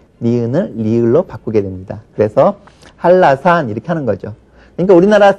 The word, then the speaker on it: 한라산: 리을로 바꿔 버리는 거예요 우리가 한라산 그렇게 쓰죠 그러나 발음은 할라산 그렇게 발음을 합니다 역시 할 한해 니은 라의 리을이 연결되기 때문에 이것을 꺼려해요 그래서 자연스럽게 니은을 리을로 바꾸게 됩니다 그래서 할라산 이렇게 하는 거죠 그니까